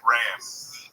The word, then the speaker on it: Ramb: Ram. B. Yeah, but you spell it like lamb.